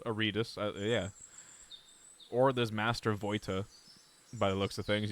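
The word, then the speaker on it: Vojta: Henry Better can't call me pronounce it Voita.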